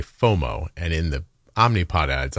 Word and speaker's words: FOMO: more O's moo right so you don't go faux moo that sounds weird because it sounds like fo f a u x